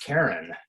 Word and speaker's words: Charon: And so Charon is actually correctly pronounced Charon, the ferryman for the dead. But Jim Christie's wife was named Charlene, and he wanted to name the moon after his wife. And so he mispronounced Charon. He called it Charon, short for his wife, Charlene.